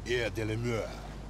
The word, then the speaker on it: Air de la Mer: You gotta say it like that, like you're French. Air de la Mer.